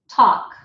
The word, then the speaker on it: talk: And then, of course, these words have to be written like this: all, off, talk, walk. We don't pronounce the L, it's just the awk, okay?